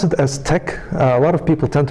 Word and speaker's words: TeX: how you pronounce this uh Tech so you pronounce it as Tech a lot of people tend to pronounce this uh pronounce it as text and then also the other one is late